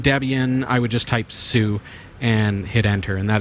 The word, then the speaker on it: su: I would just type sue and hit enter. And that is spelled su for those of you who are just listening.